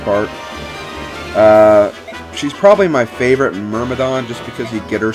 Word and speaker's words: Myrmidon: she is a mere Myrmidon I called her I called the units near madhan's and earlier episodes but then I realized the pronunciation is actually Myrmidon and Myrmidon czar solo